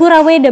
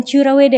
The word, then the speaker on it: Kuraweda: PT kuraweda Palagan inotex kuraweda bukan curaweda ya dibacanya dibacanya Mungkin ada yang bilang kura ada yang cura gitu ya sebetulnya apa tuh Mas sebetulnya curaweda kayaknya Cuman karena spellingnya biar enak jadi kuraweda kurawedaitu jadi Mungkin sedikit